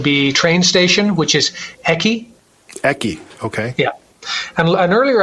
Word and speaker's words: eki: Another useful one would be train station, which is eki. Eki, okay. Yeah. And earlier, I think we talked about asking where the toilet was. Yes. Ore wa doko desu ka? So you can also say eki wa doko desu ka?